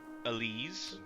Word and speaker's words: Elise: ] want Muffy also my name is Elise that's how they they pronounce it in the voice acting The Limited voice acting